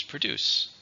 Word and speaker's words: produce: Now it has a word family which is produce. Produce just simply means to make something. Again, usually with like a business or with plants. It's a verb. How many syllables? Produce. 2. Stress on the second syllable.